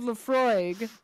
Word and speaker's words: Laphroaig: like yeah if you buy a bottle of laphroaig uh i'm probably saying that wrong i don't